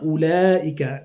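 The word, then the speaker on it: أولئك: Kemudian surat Al-Baqarah ayat 16, di sini ada bacaan gharibnya ulaika. Jadi ada ula, wawunya tidak kita baca ya. Tidak ada hukumnya di sana. Jadi kita lanjut langsung saja, tidak ada mat juga di sana. Ulaika alladzi, tidak kita baca wawunya.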